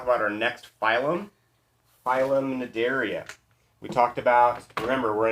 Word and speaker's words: Cnidaria: these are the jellies the C is silent phylum Cnidaria the name mid area